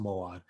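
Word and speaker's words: מועד: In Hebrew, it's pronounced Moad.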